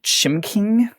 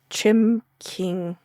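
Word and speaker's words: Chimcking: with, and I never know how to correctly pronounce this restaurant, I'm going to be honest. Chim King. Chim King. It's like C H I M C K I N G. Yeah, Chim King.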